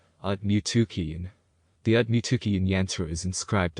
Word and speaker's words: Aaiyyan: This is the whole yantra, and it is pronounced Aaiyyan. Aaiyyan.